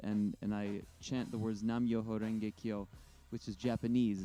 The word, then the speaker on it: Nam Myoho Renge Kyo: So, and when you say Namyo Renge Kyo, I automatically think of Tina Turner. Did I say it right? It is it's Nam Myoho Renge Kyo.